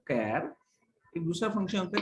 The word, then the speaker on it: CHAR: Function, एक होता है कैर, एक दूसरा फंक्शन होता है कैर, कैर CHAR, कैर. लोग चार भी बोलते हैं उसको, चार बोलो, कैर बोलो, pronunciation is not impact anything.